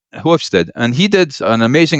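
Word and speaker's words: Hofstede: e r t hofstead which I can't pronounce it as Dutch it's hofstead yeah hofstead and he did an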